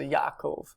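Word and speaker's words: יעקב: Below that, the proper name Jacob, Yaakov. Sometimes when you hear people say this in like modern Hebrew, it just sounds like one A, Yaakov, but there there are technically two A vowels there, so Yaakov.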